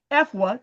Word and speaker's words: Effuah: I want you to know that my guest today, and I want to make sure I say her name correctly, Effuah, did I say it right?